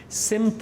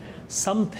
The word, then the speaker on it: سمت: سمت لفظ نہیں ہے, سمت غلط العام ہے, غلط العوام ہے. سمت ہے صحیح لفظ, لغت میں اگر جائیں تو زبر کے ساتھ ہے, سمت لفظ ہے.